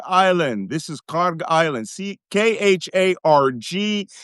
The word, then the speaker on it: Kharg: Kharg. You will also see it pronounced Khark.